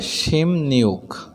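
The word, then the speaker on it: 십육: যদি বিয়োগ বাচ্ছেমের পরে ইয়ং যুক্ত ইউ থাকে, ইউ, তাহলে এই ইয়ংটা নিউন হয়ে যাবে। আর নিউন হওয়ার কারণে বিয়োগ বাচ্ছেমটা ম হয়ে যাবে। ঠিক উচ্চারণ করলে হবে শিম নিউক।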